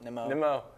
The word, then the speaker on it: Nimmo: But speaking of which, Marcus Semien went to the Mets for Brandon Nemo. Nimmo.